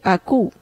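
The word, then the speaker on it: ἀκούω: Es una palabra griega que es akouo y se pronuncia aku. Suena como un bebé.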